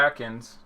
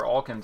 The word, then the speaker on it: Alkins: Raul Atkins, or Alkins I think it's pronounced, is in there 0.17.